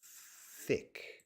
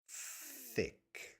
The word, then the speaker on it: thick: and tick and then thick where were tick thick pronunciation is a physical action so thick your tongue has to come out layla could you please